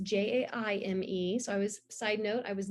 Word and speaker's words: Jaime: And yes, I am on all the things, Jaime, and it's Jaime.